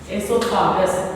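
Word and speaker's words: oesophagus: Sorry children, O is silent. Esophagus.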